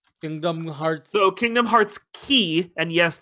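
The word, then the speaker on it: χ: So Kingdom Hearts Key, and yes, that X is pronounced Key, was only released in Japan.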